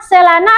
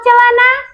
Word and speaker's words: celana: Ce itu ce, se atau si? Ce. Nah, kalau misalnya kita mengucapkan ce, berarti kita dalam memasukkan ke kosakata celana itu akan menjadi celana. Tapi kalau kita mengucapkan se, ketika kita masukkan dia dalam kosakata akan menjadi selana. Jadi yang benar sekarang selana atau celana?